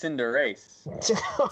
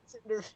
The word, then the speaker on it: Cinderace: I think it's Cinderace. Cinderace, the football Oh, Pokemon. not Cinderface. Spelled with a U.